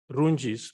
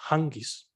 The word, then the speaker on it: Rungis: There's a market I would wish to pronounce as Rungis, but those who know it says Hangis.